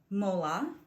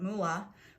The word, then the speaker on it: mola: So this is a double layered mola. I think I've also heard people pronounce it mula, but it's spelled M-O-L-A.